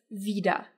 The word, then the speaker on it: wieder: just to be clear both of them are pronounced exactly the same because in both words the e sound is long so whether you spell it with an IE or just an i it's Vida but Vida with E